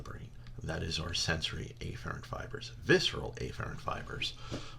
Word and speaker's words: afferent: efferent little side note the correct way to pronounce this is afferent and efferent many instructors will just say a farad's and efferent to avoid any type of confusion all right so we